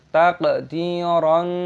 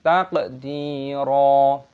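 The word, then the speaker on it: تَقْدِيرًا: Jangan dibaca "takdiron" tetapi "takdira." qawariro min fiddatin qoddaruha.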